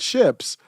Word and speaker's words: Shipp: And Google says, Johnny Shipp's last name is pronounced like the English word ships, while his real name is Jonathan Shapiro.